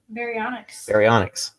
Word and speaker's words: Baryonyx: Baryonyx.